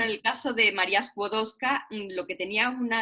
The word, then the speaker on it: Skłodowska: María Skłodowska Curie, sí, María Skłodowska. Estuve 25 días en Polonia el verano pasado y lo único que aprendí es a pronunciar el nombre Skłodowska, que no es Skło, sino Skło.